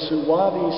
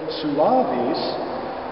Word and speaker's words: suavis: to make is on the word suavis uh the accent again is on the second syllable but in this case